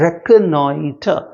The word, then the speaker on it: reconnoiter: याद रखिएगा इसको हम प्रोनाउंस करते हैं reconnoiter, reconnoiter, RECO, reconnoiter, reconnoiter।